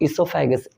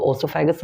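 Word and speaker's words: oesophagus: Then इसको food pipe मत कहिएगा, इसको इसोफेगस, ओ साइलेंट होता है तो ओसोफेगस मत कहिएगा, इसोफेगस होता है।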